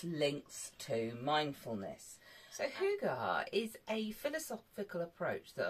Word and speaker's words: Hygge: h-y-g-g-e now I used to think it said Hig or something of that um nature I have more recently been told that actually it is pronounced Huga and it is a Danish philosophy that has